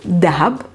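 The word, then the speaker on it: ذهب: in particular we learned the word the hab which means gold and in palestine it's pronounced dhab we learned the noun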